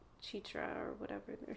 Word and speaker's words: Chitra: It'll be like the second or third time of seeing that same person, and I'll be like, actually, you pronounce it Chitra, not Chitra, or whatever they're saying.